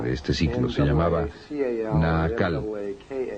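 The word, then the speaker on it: Naacal: este ciclo se llamaba naal n a a c a L o nal depende de có lo quieran pronunciar y él era como dicen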